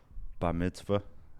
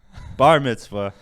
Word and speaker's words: bar mitzvah: as you gotta read did i say that wrong again i was good is it bar mitzvah god damn it show up with my gut on that one i'm bad at words bar mitzvah it's the myths five